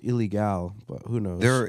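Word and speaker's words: Ilegal: Well, it is pronounced illegal because it's fucking Spanish. It's only one L. There's fucking only one L. Or it would be illegal.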